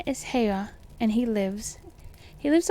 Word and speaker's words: Haigha: happy his name is haigha he pronounced it so that it rhymed with Mayor so I guess his